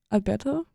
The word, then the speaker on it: Alberto: today I'm joined by Alto is like how is that how you pronounce the last name yes can you please introduce